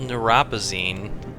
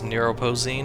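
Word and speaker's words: Neuropozyne: number of people okay so it's called neurosin I Don't Know what I've Been pronouncing it as neuropen or something so it's neuropen I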